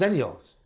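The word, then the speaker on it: Xennials: Yeah, xylophone with the X. It's pronounced Zennials.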